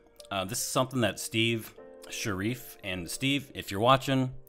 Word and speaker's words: Sharif: is something that steve sharif and steve if you're watching so sorry about mispronouncing your name before i just assumed it was sheriff but i still want